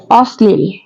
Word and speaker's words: অশ্লীল: হয় উচ্চারণ দিত হয় অর্থাৎ দুইবার উচ্চারিত হয় যেমন অশ্লীল অশ্লীল এর সঠিক উচ্চারণ